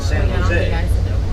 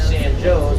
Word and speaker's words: San Jose: There's a town and it's called San Joe's. Everybody else in the world pronounces it San Jose. But up here they'll tell you, no, it's San Joe's, and you ain't from around here.